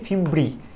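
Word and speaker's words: fimbriae: হ্যাঁ, এই যে ফিমব্রি, এটা উচ্চারণটা হচ্ছে ফিমব্রি, ফিমব্রি।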